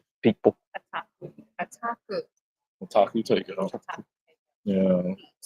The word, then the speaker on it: Otaku: Otaku.